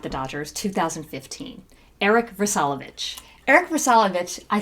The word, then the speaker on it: Vrsalovich: Eric Vrsalovich, I said it right.